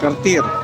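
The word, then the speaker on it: Kärcher: Sir, ano ba ang pronunciation nito? Carter carter. Ayun o carter daw. Ha yung iba carcher. Ikaw?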